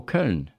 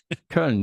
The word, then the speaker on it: Köln: Oh, Köln. Yeah. Okay. Yeah. Köln. Yeah, that's how we pronounce it.